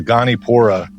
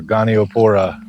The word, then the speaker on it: Goniopora: This is a Gonipora, or Goniopora, depending on how you pronounce it, where you're from, but that's a Gonipora coral.